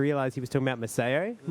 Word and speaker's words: Maseo: I think I was pronouncing it Maseo last time I mentioned his name, but it's actually Maseo.